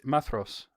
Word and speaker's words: Maedhros: Medros Mathros is how you say it.